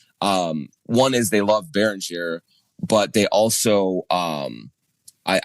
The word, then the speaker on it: Beringer: Uh, by the way, is it Baron Jay or Baroner? I've heard announcers use both. It's uh it's Baron. Baron. Yeah. Yeah. Is the French pronunciation.